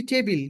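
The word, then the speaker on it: table: তারপর একটি এটা একটি টেবিল কি বলব ইহা হয় এটা হয় আমরা টেবিল বলব এখন থেকে টেবল উচ্চারণ হচ্ছে ঠিক আছে টেবিল না তারপর এটা একটি পেন্সিল।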